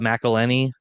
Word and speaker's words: McElhenney: Like it rhymes with Penny, Rob McElhenney.